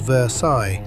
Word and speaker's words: Versailles: He moved to a town called Versailles, Kentucky, pronounced Versailles, not Versailles. And the locals will correct you the first five times.